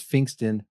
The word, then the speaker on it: Pfingsten: And I start off like this and I say, it's P as in Paul, F as in Frank, Ingsten, because if I say it's Pfingsten with a P, a silent P at the start, they'll say PH.